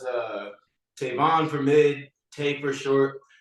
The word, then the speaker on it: Tavon: Cincy wood podcast and today I have on Tavon rice am I pronouncing that correctly yes indeed okay I read